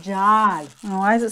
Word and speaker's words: God: God? It's pronounced Jod.